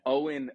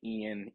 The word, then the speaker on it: Eoin: love no it's a Owen Owen is um it's actually a fairly common name in Ireland and that's how it's spell it's nonphonetic people say Ian Eon took my wife a couple of years to figure out to say it right but yeah that's it